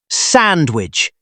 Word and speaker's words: sandwich: Look at the word sandwich. It has a D in the middle.